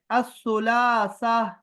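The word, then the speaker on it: الثلاثاء: हमारे पास है असुलासा। असुलासा। असुलासा। असुलासा। असुलासा। इसमें लाम साइलेंट है, द लाम इज साइलेंट है, सो असुल। असुलासा।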